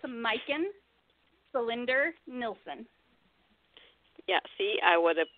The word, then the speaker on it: Majken Selinder Nilsson: It's Majken Selinder Nilsson. Yeah, see, I would have butchered that to no end, and I don't like butchering names if I don't have to.